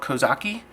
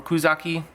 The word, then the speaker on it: Kouzaki: Aoto or mine called Kouzaki, or Kouzaki, can be pronounced either way, or I've heard it pronounced both ways.